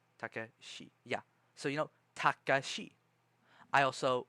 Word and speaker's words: Takashi: names and realize, oh, they say ta, ka, shi. And it's spelled T-A, ta, ka, K-A. Oh, okay. Shi. Probably S-H-I. Takashi.